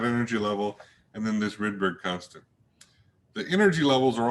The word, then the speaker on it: Rydberg: so we have the rydberg constant um some folks pronounce this rydeberg i don't know which is correct and the rydberg constant